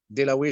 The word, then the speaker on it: Dewaele: Alors je commencerai par remercier bien sûr notre hôte Dewaele, je crois, je prononce bien le nom. Alors Acceptable. Très bien.